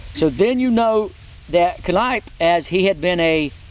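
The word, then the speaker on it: Kneipp: because you talked about father Sebastian Kip that's freedam csvi told me that's the way you say it Kip he also said you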